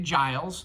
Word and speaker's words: Giles: sitting here with philandria giles pronounced like j but but it's spelled